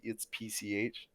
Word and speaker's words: PCH: I was like I tried to pronounce it as one word but then it was actually it's PCH but again there's that